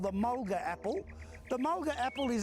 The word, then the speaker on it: mulga: call this tree and the blackfella said malka they spell it m-a-l-k-a and the white fellas wrote it down as mulga so mulga comes from traditional language name malka the timber from this